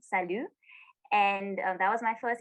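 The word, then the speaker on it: Saint-Lô: salu they say but if you read it in english it just says saint lo but it's pronounced salu and that was my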